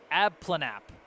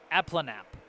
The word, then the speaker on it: Aplenalp: It sounds like Aplenalp. Aplenalp.